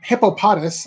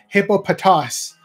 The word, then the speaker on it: Hippopotas: to say it is hippopotas um I'm not going to say that it's hippopus because it sounds more close to hippopotamus like the real animal I'm gonna keep calling